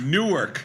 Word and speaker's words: Newark: Newark. Newark. Gal. New York. Newark.